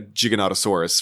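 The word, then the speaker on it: Giganotosaurus: It's a jiggonottosaurus.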